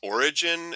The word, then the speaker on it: Oregon: beautiful scenery and pronounced it's pronounced origin and I'm pretty sure